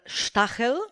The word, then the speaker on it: Stahel: Today's guest is Alexander Stahel. We decided to use the German pronunciation, and this episode is dedicated to energy and geopolitics.